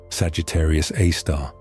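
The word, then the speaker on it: Sagittarius A*: This object is known as Sagittarius Aar pronounced Sagittarius A star.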